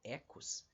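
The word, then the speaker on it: οἶκος: a primeira palavra aqui que se escreve desse jeito Oikos mas que a gente lê na verdade em grego como ecos e a palavra Logos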